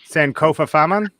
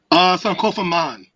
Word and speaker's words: Sankofa Man: Landing. Sankofa Faman? Sankofa Man. Oh, okay. That makes sense. I added extra letters.